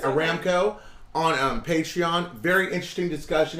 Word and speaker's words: Aramco: did a video on Armco Aramco sorry I mispronounced that Aramco on patreon very interesting